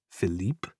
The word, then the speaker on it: Philippe: star these days flip whose real name it turns out is philippe pronounced the french way is constantly whisking her